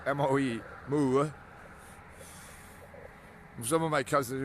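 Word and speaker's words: Moe: Premier Boe, which is how it's pronounced in Norwegian, Mo, M-O-E, Mo.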